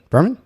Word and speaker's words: Berman: I think I said that right. Berman? Am I right? Yeah. Berman? I always pronounced it. Okay, perfect.